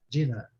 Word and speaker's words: dinner: Dinner. A primeira sílaba é a mais forte, né?